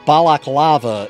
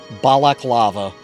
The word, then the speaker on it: balaclava: Baklava is the dessert. Balaclava is the face covering.